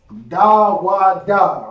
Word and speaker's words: Dawada: Dawada, right? That's how it's pronounced.